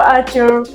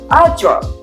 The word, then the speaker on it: Artur: Hello, Artur. Artur. Yep. My pronunciation is okay?